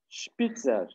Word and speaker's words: Spitzer: Üç numara der Spitzer. Der Spitzer. Evet, senin önünde sessiz harf varsa nasıl okunuyor? Şey olarak. Spitzer. Spitzer. Eğer buradaki devamındaki harf ince ise burada da şi diye okuyoruz, değil mi?